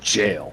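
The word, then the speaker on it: gaol: Look at how they spell Jail. You know the old English way of G A O L. True true. And it's still pronounced jail.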